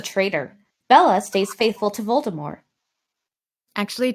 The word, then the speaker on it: Voldemort: bella stays faithful to voldemort actually jk rowling pronounced it in the french way voldemort silenty joe can pronounce